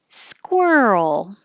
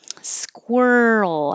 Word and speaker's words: squirrel: The favorite word, squirrel. Squirrel. As your tongue comes back for the R and then it goes to the L, squirrel.